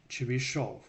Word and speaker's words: Chebyshev: Or if you're Russian, it's pronounced as Chebyshov inequality.